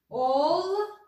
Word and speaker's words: olmak: Olmak. Ölmek. Olmak ve ölmek farklı anlamları var. Telaffuzları farklı. Olmak, ölmek. Buna dikkat edelim.